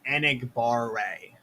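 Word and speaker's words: Enagbare: king of pronunciation here it's kingsley enig bar ray and igbaare i gotta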